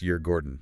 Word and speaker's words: Djurgården: That's pronounced Djurgården. Djurgården, right.